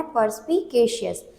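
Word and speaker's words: perspicacious: इसका मतलब हमें इसे कैसे पढ़ना है? पर्सपिकेशियस।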